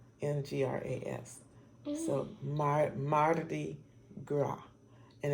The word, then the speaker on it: Mardi Gras: words Marty Marti and gra and the S is silent in Graf so Marty Gras and it's also French it's also a French